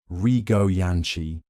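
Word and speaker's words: Rigó Jancsi: The Rio Jansancy cake, pronounced roughly Rio Yanchi, was created in Budapest, reportedly at the Gerbo Cafe, one of the most famous and elegant cafes in the city.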